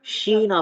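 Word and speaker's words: China: और चाइना जो है इसको हम शीना पढ़ेंगे, चा नहीं, श, ठीक है, चीना, शीना, ठीक है।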